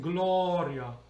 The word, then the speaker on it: Gloria: But like in Italian, in Latin, we sing Gloria. Just open.